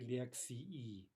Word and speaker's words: лекции: Remember that if we say that ending very clearly, it should be two syllables. После лекции.